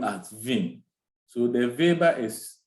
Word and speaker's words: Weber: produce they Pronounce W at Vin so the Viber is spelled w-e-b-e-r Max Weber so because he